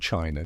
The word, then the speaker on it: qi: Ancient China created its own complex system based on a similar idea of harmony, the flow of energy, or qi, pronounced chi, while India concentrated on balancing the doshas.